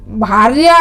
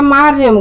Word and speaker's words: भार्या: मेरे गुरुजी कहते हैं कि पंडित जी ने वो कहा दुर्गा सप्तशती का पाठ किया और भार्या की जगह मार्यम कह दिया।